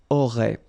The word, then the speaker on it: auraient: And then look, if you've got A-I-E-N-T, then phonetically it goes like aurait.